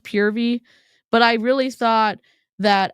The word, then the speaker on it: Purvii: we're doing um we're watching pervy it's actually pronounced pvy but I really thought that as a public service announcement it would be really helpful to tell the internet that pervy is not pronounced pervy it's pronounced pvy and and PV is not for pervert so